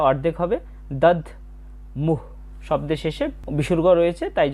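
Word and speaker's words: দধ্মুঃ: এরপর আছে দাদ মুহ। এখানে দ এর উচ্চারণটা অর্ধেক হবে। দদ মুহ শব্দের শেষে বিসর্গ রয়েছে।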